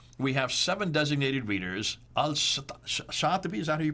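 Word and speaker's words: al-Shatibi: here following this we have seven designated readers al shattupi is that who you pronounce it yes in 1194 chose this 14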